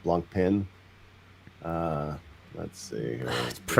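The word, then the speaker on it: Blancpain: Yeah, we have we have a sub we have a sub debate going on in the comments about how to pronounce blanc pan, not blanc pin.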